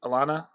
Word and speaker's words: Alannah: Dave so Hillary uh is it's is it Alana Arnette is that how you pronounce it Alana yeah Alana Alana so she's four- one in